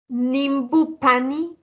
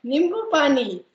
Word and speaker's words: nimbu pani: Nimbu pani. Perfect. Nimbu pani. Nimbu pani means lime juice. Okay. Nimbu pani.